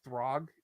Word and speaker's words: Throg: actually it's also announced pronounced throg if you will from what i heard